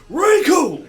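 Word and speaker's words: Recoome: Like, my name's Riku! It sounds like it rhymes with Doom, and you're gonna be hurting all too soon!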